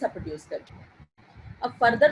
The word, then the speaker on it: coup: Type of injury is called as अ Koo injury. इस injury को क्या कहते हैं? कू इंजरी। ये टी जो है इसका साइलेंट है, और अगर ऑपोजिट साइड